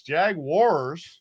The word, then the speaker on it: Jaguars: It's Jaguars. Yeah, Jaguars. Not wires. Wars.